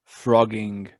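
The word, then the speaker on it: phrogging: go have you weird have you heard of frogging frogging phr o g g i n g wait you say that then p p h r no double g i n g but it's pronounced frogging yeah well when you first pronounced it i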